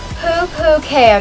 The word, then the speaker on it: pupukea: my american girl dolls i pronounce my username like this poo kay a girl yes i know it's a little funny but don't laugh it's a hawaiian word that means white shell girl now if you can't